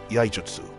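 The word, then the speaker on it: Iaijutsu: Sen are required to perform yaijutsu. sorry, my throat was a little off. What I meant to pronounce it is yaijutsu.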